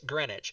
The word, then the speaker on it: Greenwich: all up but anyway greenwich in britain it'd be say you would say greenwich right and that's the proper pronunciation is greenwich and it's spelled nothing like that like there's a giant in there green witch yeah green which is